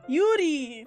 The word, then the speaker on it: Yuri: There's actually quite a fair amount of names you're pronouncing incorrectly. Oh, well, let me know what they are. Is it Yuri? Yuri. Yuri, thank you.